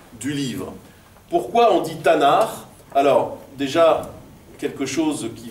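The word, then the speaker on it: תנ״ך: dans ces cours vous c'est TAV noun R c'est pas quelque chose qui se prononce donc quand on dit tanard en général on vocalise à minima avec des des a donc c'est pour ça qu'on lit effectivement Tanar vous pourz me dire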